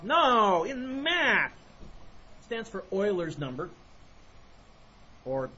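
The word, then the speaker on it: Euler: Down in the south they'll call it Uler, but talk to the German students. It's Oiler.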